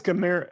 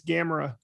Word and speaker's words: Gamera: this big turtle monster and what's the correct pronunciation again i think it's kamera it's gamera cameron thank you for that i don't know